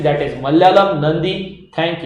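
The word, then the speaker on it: നന്ദി: मलयालम में इसको नंदी बोलते हैं, ये लिखा हुआ है नंदी। मे भी मेरा प्रोनाउंसिएशन उनके जैसा नहीं होगा, लेकिन इट इज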